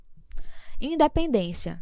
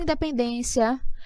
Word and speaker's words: independência: o endereço em pendência Independência veja é terminada em ditongo crescente como auditor crescente e quando nós temos primeiro uma semivogal depois uma vogal Independência Qual é a sílaba mais forte a penúltima então é realmente uma